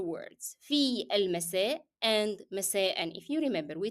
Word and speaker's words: مساء: مساء has to be pronounced, and صباحا as well, by the way. Both of them has to be pronounced with the tanween n. It is part of the word.